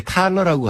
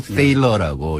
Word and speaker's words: Thaler: 먼저 THALER인데 우리나라에서 이렇게 번역이 나올 때 탈러라고 한 데도 있고 세일러라고 이렇게 발음한 것도 있는데 이분이 독일 출신이에요. 그러니까 아마 집안에서는 탈러라고 부를 것 같아요. 탈러. 예. 그래서 이제 미국에 사니까 미국에서 커서 살아니까 이제 사람들이 전부 세일러라고 부르니까 그냥 세일러라고 부르는 게 이제 맞을 것 같고요.